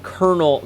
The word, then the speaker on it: colonel: Also, the reason is because it's spelled kernel. Colonel is spelled C O L O N E L, not Colonel like a like a a popcorn kernel.